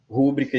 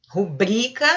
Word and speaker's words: rubrica: Rúbrica está errada. É o BRI. Rubrica.